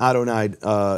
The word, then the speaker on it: Adonai: Where that the Aleph in Adonai is silent, and so the Yud should have no vowel, and it has the vowels Yehovah.